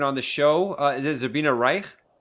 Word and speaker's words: Zabrina Reich: much for coming on the show is it zabina Reich right I'm pronouncing I'm Persian right right so thanks for